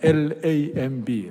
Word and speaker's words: lamb: 양이 뭐냐면 L-A-M-B, lamb. B is 묵음.